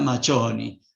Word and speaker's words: Macioni: Macioni, que se escribe así en castellano, se pronuncia Machoni, de tal manera que se lo va a escribir como Antonio Machoni.